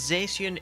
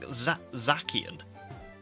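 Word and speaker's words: Zacian: Human says Zian is pronounced like Zach. What you mean? It's pronounced like Zakian.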